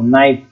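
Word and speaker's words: NiFe: क्या कहा जाता है इसको, नाइफ, चाकू नहीं, नाइफ, के साइलेंट नहीं है इसमें।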